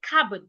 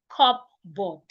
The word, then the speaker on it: cupboard: The P in the word is silent. Please say cabb. Cab, not cupboard. Cabb.